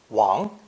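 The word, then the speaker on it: 王: wheels over his subjects this character is pronounced second tone if that pronunciation sounds familiar as in a common chinese family name you would be right as in english king wong in chinese is also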